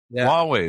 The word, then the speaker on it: Huawei: there yeah just just use it with your Hawaii phone or how do they pronounce that hwai Huawei Huawei that's it just use it with your Huawei